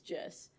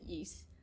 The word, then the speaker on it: Jess: supposed to be hello my name is Jess um but it you know thought that you know you pronounce it yeast um yeah I trained